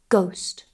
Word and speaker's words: ghost: For example, hour, honor, honest, air, and also some letter combinations where we do not pronounce the H. For example, GH, like in ghost, or WH, like in where.